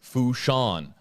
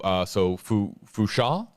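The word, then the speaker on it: Fourchon: Hashtag AJB, it's Fushan with a silent N there. So Fusha, Alabama.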